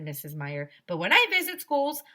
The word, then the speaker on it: Meyer: Meier it will be easy to remember name my name because Meyer rhymes with fire that's funny said mr. Platz oh there's nothing funny about fire said mrs. Meyer but when I visit